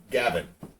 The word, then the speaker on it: Gawain: to English which means Gawain should be pronounced more like Gavin way to go Welsh